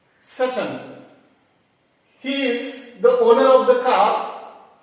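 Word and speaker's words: Tsetan: Now coming to the second character here, Seton, T-S-E-T-A-N, but we used to pronounce as Seton.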